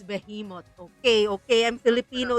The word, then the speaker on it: behemoth: me say behemot guys why is it pronounced like a letter I if it's spelled with an E English is confusing be